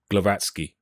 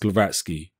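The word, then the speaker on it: Głowacki: I always forget how to pronounce his surname. It's the Polish surname. I'm going to say Glowacki.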